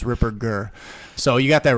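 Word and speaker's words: Ripperger: I always you got a lot of people do a soft G they say Ripper jur but it's it's a hard G it's Ripper gir so you got that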